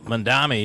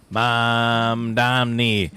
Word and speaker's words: Mamdani: It is going Just to be like the song, the Irish song, Donny Boy, Danny Boy. Mom, Donny Boy. Mom, Donny Boy. That's what he is.